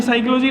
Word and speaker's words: psychology: हमने साइकोलॉजी लिखा तो साइकोलॉजी कैसे लिखा, PSYCHOLOGY। अब यहाँ फर्स्ट लेटर साइलेंट है, और फर्स्ट लेटर साइलेंट